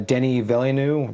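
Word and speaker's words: Denis Villeneuve: if you guys read uh recently um uh Denny villeneu is that how you say his name yeah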